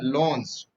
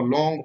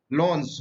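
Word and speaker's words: lawns: लॉन्स। बहुत सारे लोग इसको लॉन्ग पढ़ते हैं, ये लॉन्ग सही उच्चारण इसका होता है लॉन्स।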